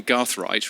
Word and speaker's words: Gathright: and then he adds the gath in gathrite rhymes with bath or as I would say because I'm a posh British person the Garth in Garth right rhymes with bath Jordan